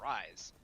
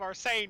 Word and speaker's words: Arise: I said, Tales of Arise. Which I learned only at the Game Awards. I've been pronouncing incorrectly this entire time. I've been calling it Tales of Arsane for so long, and I don't know why, but I did!